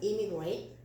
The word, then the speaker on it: immigrate: 요거는 immigrate, 이 아이는 emigrate. 이 발음을 살려줘야 돼요. emigrate 똑같은 뜻이에요.